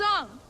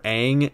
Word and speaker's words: Aang: protect us name is ong and i'm the avatar can someone please tell me how the hell they messed up the pronunciation of aang aka the main character i feel like m